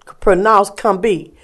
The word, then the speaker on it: Combahee: Plan a raid to free slaves from plantations along the Combahee, pronounced Combee River in South Carolina.